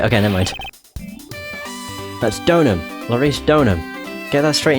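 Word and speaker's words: Deauxnim: Because that was a name I never knew how to pronounce up until I saw the anime, and they've just pronounced it Donham. And I felt like such an idiot for not realising it should have just been called Donham.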